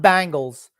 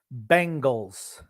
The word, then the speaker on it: Bengals: I mean, regarding the Bengals, Grump, Bengals, not Bangles, Bengals.